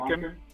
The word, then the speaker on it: Monken: And then while we've been on here, your boy Schefter came on and said, pronounced it wrong. The Chargers are interviewing Ravens offensive Todd coordinator Monken, Monken.